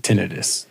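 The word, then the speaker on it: tinnitus: So often times I don't come up with I suffer from tinidis or tenitis. tenitis. I mean, I've been to doctors and they all pronounce it tinitis.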